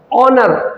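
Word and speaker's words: honour: ऑनर औ की आवाज है।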